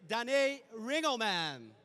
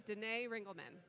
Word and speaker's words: Danae Ringelmann: super first question okay say it properly my name is Danae ringleman Danae okay Danae so uh you started